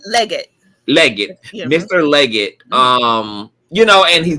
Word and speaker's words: Leggette: Is it, how you pronounce his last name? Legette.